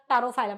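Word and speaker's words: Pterophyllum: तेरा टारोफाइलम, अभी ma'am P से ये साइलेंट है प्रोनाउंसिएशन में, ये TER तेरा का ही वही आ रहा है।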